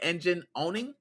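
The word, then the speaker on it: EngineOwning: You guys not only suing Engine Owning, I think that's how you say it, Engine Owning. There we go, because you're owning somebody.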